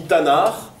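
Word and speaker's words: תנ״ך: dans ces cours vous c'est TAV noun R c'est pas quelque chose qui se prononce donc quand on dit tanard en général on vocalise à minima avec des des a donc c'est pour ça qu'on lit effectivement Tanar vous pourz me dire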